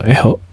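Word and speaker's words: echo: akan belajar mengenai perintah Eco Eco atau eo saya bacanya Eco saja ya Eco Eco disini adalah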